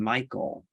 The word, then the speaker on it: Michael: um so in this the second syllable of my name michael uh basically the l